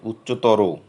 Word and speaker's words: উচ্চতর: যেমন তর, উচ্চতর, এর উচ্চারণ হবে উচ্চতর। প্রিয়তম, প্রিয়তম কেউ বলি না, বলি প্রিয়তম।